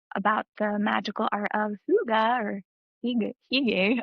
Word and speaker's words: hygge: magical art of hygge, I don't know how to pronounce it. I I think think it's it's icky. I thought it was hygge. Like I thought it was like I weigh in on this if you're I'm pretty sure it's Higgy, but Hooga sounds so much I more think fascinating to I me. think I Googled it once and it said hygge, so I'm gonna say hygge, Great.